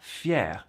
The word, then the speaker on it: fier: below saying Je suis fier de moi et de mes progrès. That's fier, F-I-E-R, for the guys, and fier, same pronunciation as far as I know, F-I-E accent grave, R-E, for the ladies.